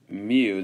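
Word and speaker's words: μ: So how do you say mean? That's mu. That's like it's a Greek M.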